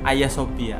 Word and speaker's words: Hagia Sophia: itu tentang apa Hai tulisannya sih Hagia Sophia dibacanya B Ayah Sophia Sophia Sophia ngomong malah